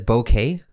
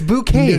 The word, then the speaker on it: bouquet: What do you pronounce it bouquet? As? No, a bouquet of flowers. Dude, it's a French word. It's bouquet. Dude, no. What are you doing? It's a bouquet of flowers. No, it's a bouquet. No, bouquet, man. It's bouquet, dude. It's spelled B-O-U. Oh my God, East Coasters are such a backward society. What are you talking about? Listen, man. Are we French? Well, it comes from French, man.